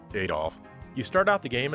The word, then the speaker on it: Adol: it perfect absolutely not you are adol and yes i will always pronounce his name that way since that's how the original games did it plus eight all just sounds better than at all at all sounds too much like adderall so it all it is